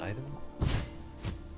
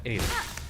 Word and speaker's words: Aiden: Or is it Iden? Aiden. Iden. No. Yeah, Aiden.